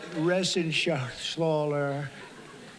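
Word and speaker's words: Reschenthaler: thank you and Guy Ren Shaler you know that Ren Sher he's uh that's actually the way you pronounce it you know nobody else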